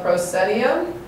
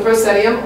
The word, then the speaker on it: proscenium: The line that goes across right here is called the proscenium. That's spelled P-R-O-S-C-E-N-I-U-M.